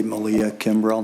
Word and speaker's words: Malia Kimbrough: Did I say Malia Kimrell?